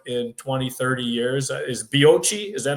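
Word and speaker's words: Bioča: Is Bioce, is that how you pronounce the city? Yeah, Bioce, yeah.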